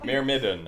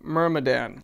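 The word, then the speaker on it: myrmidon: yeah i don't know mere midden what does that mean an unquestioning follower it's pronounced mermadan mermadon mermaden mermaden mermaden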